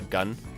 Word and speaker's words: GN: is clearly especially considering GN can sign you pronounced uh gun uh for instance the G Archer gun Archer this is sometimes uh pronoun says gun Cannon so it's gun Cannon